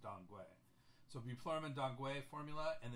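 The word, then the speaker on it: Danggui: bman Tang dangu formula some people will say tangqi formula because it's using the way Gils and it's spelled t n qu excuse me Ki so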